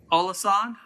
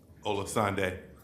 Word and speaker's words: Olasande: Olasand? Did I pronounce that right? No, sir. How do you pronounce it? Olasande. Olasande.